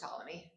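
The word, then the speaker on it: Ptolemy: or if you're feeling phonetically tal but it's pronounced taly and he was headquartered in Alexandria Egypt.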